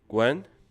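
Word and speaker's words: 观: It's pronounced as Gwen and it means observe or watch.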